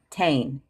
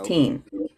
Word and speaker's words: Berenstain: So now they spell it T-A-I-N, bears. It used to be T-E-I-N. Yeah. Yep. And they're saying it's always been T-A-I-N, Tane, versus teen.